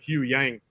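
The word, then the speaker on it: Huyang: the live action show said uh you know Hugh Yang three times you know damn I must have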